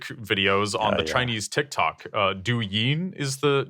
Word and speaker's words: Douyin: Douyin is the name of the app. I think I'm pronouncing that right.